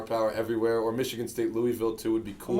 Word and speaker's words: Louisville: was down south and I said Louisville yeah they lady was like excuse me it's Louisville I was like oh